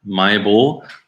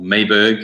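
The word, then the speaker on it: Mahébourg: If you're going from the south to the north of the island, so from a place called Mayborg or Mayberg, as some people pronounce it, and you're going up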